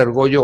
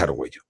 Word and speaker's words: Argollo: Se puede pronunciar Argollo o Argolo, da igual, pero es Argollo.